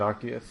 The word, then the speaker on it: Arceus: Yeah, the Pokedex pronounces it Arceus.